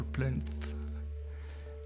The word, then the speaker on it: plinth: Busts of the king and queen on marble plinth. That is hard word to pronounce, the TH at the end.